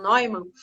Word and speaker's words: Neumann: E a torre, de acordo com Eric Newman, ou algumas pessoas pronunciam Neumann, torre é o símbolo da grande mãe.